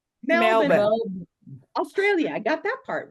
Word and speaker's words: Melbourne: Menburn. Pronounce it for me, Michelle. Melbourne.